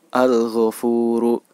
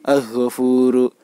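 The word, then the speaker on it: الغفور: Contoh keempat adalah frasa al-ghofuru. Al-ghofuru. Al-ghofuru. Pada kalimat al-ghofuru, ghain merupakan salah satu huruf Qamariyah. Jadi, huruf "Al" yang terletak sebelum huruf ghain harus dibaca dengan jelas.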